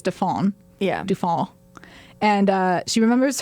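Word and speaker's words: Dauphin: yeah okay I mean it's spelled like dolphin dolphin but it's defon yeah and uh she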